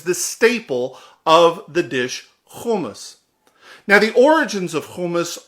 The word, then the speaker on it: hummus: Now, some of you will call it hummus, but it's pronounced hummus.